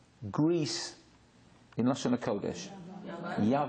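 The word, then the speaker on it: יוון: Yavan.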